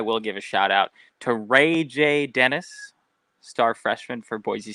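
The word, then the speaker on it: RayJ: a underscore Y Capital J hmm Dennis that's Ray J right that's out that's not like this robbery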